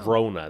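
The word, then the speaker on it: Sirona: Serona, that's how you pronounce her name.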